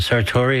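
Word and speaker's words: Sartore: Claire herself, but Joel, is it Sartori? Is that how you pronounce it?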